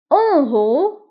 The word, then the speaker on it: en haut: En haut, en haut, fil a'la, fil a'la, en haut. فبالنسبة لان هو نكتبها ايضا بالت في اخر الكلمة ولكن لا ننطقها.